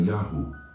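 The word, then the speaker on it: יהו: Esses textos sugerem que a pronúncia era Yahu, idêntica a encontrada nos nomes dos profetas e nas inscrições arqueológicas.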